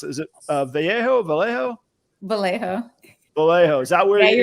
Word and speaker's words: Vallejo: And is that, I always mispronounce it. Is it Vallejo? Vallejo.